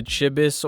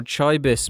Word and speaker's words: chibi: The design of these things is loosely based on the Chibis or Chibis movement. The way you pronounce it depends on where you come from.